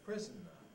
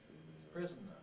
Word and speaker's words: prisoner: prison might be a prisoner prisoner three syllables but they can also be a prisoner two civil wars prisoner